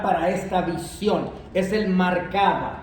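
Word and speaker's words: Merkabah: Ahora, el término hebreo para esta visión y ven que es una visión de la gloria de Dios es mar caba. Se escribe mar m a r e mar caba por mar o marcaba.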